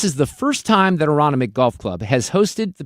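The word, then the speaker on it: Aronimink: Oh, it's it's just Aronomic. Aronomic. Okay, Sue, how about this? This is the first time that Aronomic Golf Club has hosted the PGA Championship since your guy Gary Player won in 1962.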